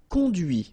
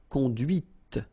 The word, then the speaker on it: conduit: C'est la voiture que tu as conduite. And that's when you hear the difference between conduit, because remember, final T is not pronounced, conduit, here, and then the feminine, conduite.